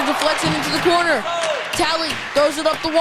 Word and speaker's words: Talley: I'm pronouncing that one right. Taylor, right? Daryl Talley. Tally, okay, my bad.